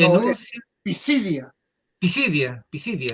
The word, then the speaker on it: Pisidia: de Antioquía de Pisidía, Pisidia y anuncia Pisidia. Pisidia, Pisidia. Porque sería pisidia si tuviera acento en la Sí, en la I. Pero es pisidia.